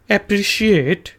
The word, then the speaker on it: appreciate: एप्रिशिएट के spelling होते हैं जी APPRECIATE। एप्रिशिएट, इसको आपने शी से शीएट कहना है, एप्रिशिएट।